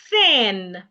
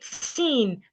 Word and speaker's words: thin: Let's pronounce these words again. Thin, bath, teeth. Henceforth, you don't want to say seen bath teeth. No, that is wrong pronunciation. Okay.